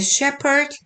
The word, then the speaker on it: shepherd: from another, as a shepherd separated the sheep from the goat. 여기 shepherd는 그 목자잖아요. 목축을 하는 사람, S-H-E-P-H-E-R인데, P-H에 보통 F 발음 많이 나죠. 근데 이건 F 발음 아니고 P 발음. 그래서 shepherd.